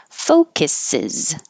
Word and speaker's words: focuses: environment hold the t focuses focuses which sounded like faux kisses fake kisses foe from the French